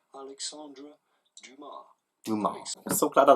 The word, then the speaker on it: Alexandre Dumas: In French, in France, we would say Alexandre Dumas. Dumas. The S at the end is definitely silent, so do not say Dumas, but rather Dumas.